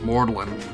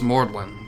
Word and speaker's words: Magdalene: like the College of mortalen in in England it's spelled Magdalene but it's pronounced mordlin because people are [